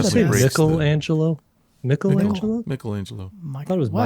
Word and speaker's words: Michelangelo: Oh, you're famous- talking about the Michelangelo painting. Yeah. Yeah. Yeah. One it of the definitely best. breaks the- Michelangelo? Michelangelo.